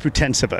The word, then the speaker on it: Putintseva: sava today Yulia you your name is pronounced futon sofa isn't that right yeah it's right you